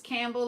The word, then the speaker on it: Campbell: But it's Campbell like soup.